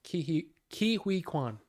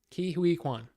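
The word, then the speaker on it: Ke Huy Quan: Hirsch, Barry Keoghan, and Ki Hui Kwan. I found out today it's actually pronounced Ki Hui Kwan. Ki Hui Kwan. That's how you say it.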